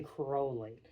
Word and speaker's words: Crowley: By the way, I've been pronouncing the name wrong, and I'm sorry. Me too, it's man. It's actually Crowley. Yeah. He himself said that.